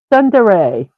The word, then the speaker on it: tsundere: Let me listen real quick. Tsundere. Okay. Tsundere. Okay. So that's how we pronounce it.